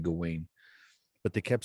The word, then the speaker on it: Gawain: I thought it was Garwin at the beginning, but it's Gawain. They kept in the movie. They keep pronouncing it Garwin, but Right?